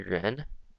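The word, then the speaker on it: 人: Like this on the left side, you'll notice this is actually ren, R-E-N, which is right here.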